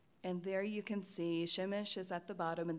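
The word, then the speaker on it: Przemyśl: And there you can see Siemisz is at the bottom, and that is how you pronounce the name.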